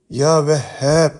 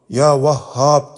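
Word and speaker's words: Yâ Vehhâb: öğretmişlerdir önce şunu söyleyeyim ya vehb İsmi Şerifi bu şekilde okunur ya vahhab diye okunmaz Çünkü oradaki harf ha harfi değildir He harfidir sırrını anlatmaz evvel şu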